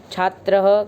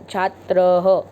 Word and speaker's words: छात्रः: छात्रः, गजः, घटः। विसर्ग जो होती है वो छात्रः, यानी त्र के साथ ह लग जाता है, विसर्ग को हम ऐसे ही बोलते हैं।